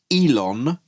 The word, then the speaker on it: Ilan: And and he talks about Elon Raman in very glowing terms and and I believe and and he does pronounce it Elon.